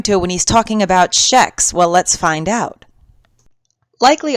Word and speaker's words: kex: For those unfamiliar with Swedish, soft vowels I, E, following hard consonants such as G or K will cause the consonant to take on a soft pronunciation. As such, K-E-X ought to be pronounced as the Swedish lad just explained, kex.